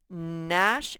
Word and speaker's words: gnash: sound k nash and nat begin with an m sound that m sound is spelled with a gn nash like you might